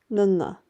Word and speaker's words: ਙ: is how you write Nana and it's pronounced using the back of your tongue against the back of your mouth the top of your